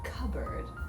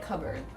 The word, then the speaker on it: cupboard: part and just go totally through as cupboard you guys say it as well love it yeah okay you don't you don't really pronounce the r in the last part i i still say cupboard but you guys get rid of the r the less yeah no that feels a